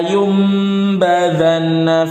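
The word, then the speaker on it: لَيُنبَذَنَّ: Di sini ada nun sukun bertemu ba. Makanya di atasnya ada tanda mim. Ini tanda iqlab namanya. Dibaca la yumbadzanna fil hutamah.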